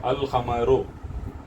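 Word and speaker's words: القمر: मैं रीड करता हूँ, अल ख़मरो, ख़मर क्या है, ये अल हुरूफुल ख़मरिया मून लेटर है, तो इसलिए अल में का लाम प्रोनाउंस किया जा रहा है।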